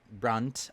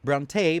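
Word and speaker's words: Brontë: And I'm talking about Jire uh by Charlotte Brunt. I believe that's how you pronounce it, but you know, as a lot of people out there, I I often will pronounce this Bronte, but I know that it's wrong.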